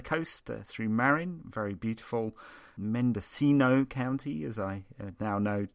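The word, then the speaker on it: Mendocino: Mendescino County as I now know to pronounce it.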